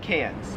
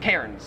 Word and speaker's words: Cairns: and you all have cans australians love to get americans a hard time for mispronouncing these cities we call melbourne melbourne and we call cans cairns because there's like an r there well my question for